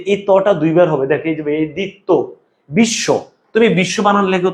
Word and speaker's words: বিশ্ব: তহলে এই তটা দুইবার হবে দেখত বিশ্ব তুমি বিশ্ব বানান লেখো তো এইযে বিশ্ব লিখতে